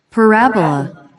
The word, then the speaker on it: parabola: Ver diccionario y su pronunciación. Parabola. Parábola, parábola. Parabola. Es una curva abierta simétrica con respecto a un eje.